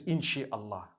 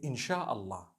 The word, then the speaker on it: insha'Allah: No one says inshi Allah. They say insha'Allah. That's what it is.